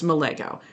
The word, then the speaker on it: Melago: So like my last name, Melago, a lot of people mispronounce it. It's Melago.